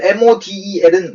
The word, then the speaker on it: model: 자, 영어에 있어서요, 모델, M-O-D-E-L은 모델이라고 발음되지 않는 거예요.